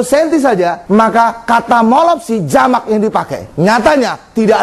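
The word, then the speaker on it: μώλωψι: Kalau jamaknya apa? Molopsi, M-O-L-O-P-S-I. Jadi jamaknya tambah S antara P dengan I-nya. Molopsi.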